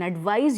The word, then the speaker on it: advise: So the first one has sa pronunciation, the second one has za pronunciation, that is Z.